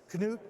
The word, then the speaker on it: Knute: Now, Knute is the proper pronunciation of your name and your grandfather's name, right? Yes, it is. It's the Norwegian.